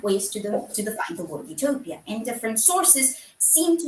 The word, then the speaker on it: Utopia: In English, in modern English specifically, that prefix is pronounced the same as you, meaning good, think euphoria, which creates a very tongue-in-cheek pair of homonyms.